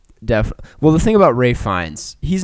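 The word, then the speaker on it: Ralph Fiennes: Holt Hong Chao and Ray fines uh who I always almost say his name incorrectly because it says Ralph yeah fans but it's Ray fines um and uh that's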